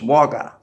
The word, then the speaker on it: Wagga Wagga: we got stuck near Wagga Wagga, which is, it's written Wagga Wagga, but it's pronounced by the whole world as Wagga, one word.